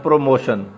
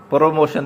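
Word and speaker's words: promotion: आगे next word आ गया जी प्रमोशन आ गया, ठीक है, बास पढ़ते हैं प्रोमोशन, प्रोमोशन नहीं कहना, प्रमोशन कहना है।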